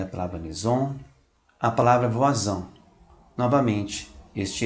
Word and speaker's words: voisin: Quando o S está entre duas vogais, pronuncia-se como um Z.